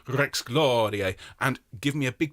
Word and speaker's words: Rex Gloriae: Domine Jesu Christe, Rex Gloriae, Rex Gloriae. Very, very nice indeed. You're going to roll your R's, please, on Rex Gloriae and give me a big dynamic contrast between the first and second phrase.